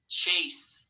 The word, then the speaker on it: chase: digraph ch a s chase that's correct chase so the s sounds like sounds like a regular s in there so be careful